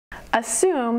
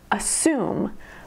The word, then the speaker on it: assume: Assume has two syllables, and the emphasis is on the second syllable. Assume, assume. Did you notice that you almost don't even hear that first syllable?